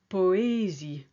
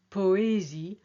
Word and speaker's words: poésie: Poetry is poésie. You can hear the OA and they've got equal weight. Obey becomes obéir. So aéroport, poésie, obéir.